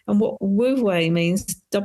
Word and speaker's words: Wu Wei: It relates to a concept that I talk about in the book, a Chinese concept called Wu Wei. And what Wu Wei means, it's pronounced W-U and then another capital W-E-I, is this patience in the unfolding of events.